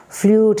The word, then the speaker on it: flute: It is not flute. It is flute.